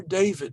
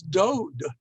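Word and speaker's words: דוד: is dalid vav dalid which we today pronounces da vid but just with those three letters if you didn't know better you might think it was dode which means uncle so even in the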